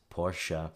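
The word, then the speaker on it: Porsche: Interestingly, if we write it down as Portia, as in the character from The Merchant of Venice, that would guide English speakers of all accents to a perfect pronunciation of the German car brand.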